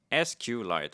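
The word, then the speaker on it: SQLite: How does how do you actually pronounce that? SQ light. Okay. according to Google uh which is the default of rails.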